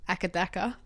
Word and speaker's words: AC/DC: Akadaka. Yeah, because that's not, you write it AC/DC, but no, like, Akadaka.